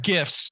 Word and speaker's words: GIF: that was it no the proper pronunciation I don't care who you ask is GIF it really is the only person absolutely the only person who pronounces it Jif is the guy who